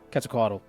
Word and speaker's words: Quetzalcoatl: The Quetzalcoatl, however you, there's a correct way of pronouncing it where you don't pronounce the L, but Quetzalcoatl just sounds better.